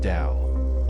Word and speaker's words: Tao: a guide to understanding the concept of the Tao pronounced Dao a fundamental principle in